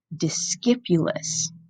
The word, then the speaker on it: discipulus: You can hear in the Latin how we always pronounce a C like a K, discipulus. But of course, that C starts to sound more like an S in words like disciple and discipline.